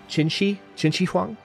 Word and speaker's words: Qin Shi Huang: But Qin Shi Huang. People have been talking to me about the Q's. It's actually the Q is pronounced with a CH.